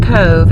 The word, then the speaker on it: Cobh: are really difficult anyway we're just about to Cove it's spelled Co be a 20 miles turn left on l-29 89 but it's pronounced Cove and we're going to a museum called the Titanic experience Cove was the last port of emigration for those